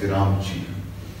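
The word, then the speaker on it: Gramsci: yes okay this is Sci but you pronounce it as ramji today when you go home uh Google this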